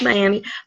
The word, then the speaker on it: Miami: It's a little south of what they call Miami, which spelled like Miami, looks like Miami, but they call it here Miami. But what do you expect from places that call Missouri, Missouri?